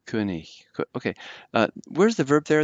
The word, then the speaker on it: König: That O umlaut is hard to pronounce. König, König, and the G is a little bit gutturalized slightly. König.